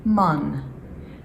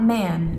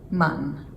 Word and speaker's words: man: man, which, although it's spelled the same, it's pronounced man. So, not man, it's man.